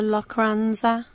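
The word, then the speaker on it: Lochranza: with amazing scenery just stunning we've come to locranza that's how you pronounce it man going out on a boat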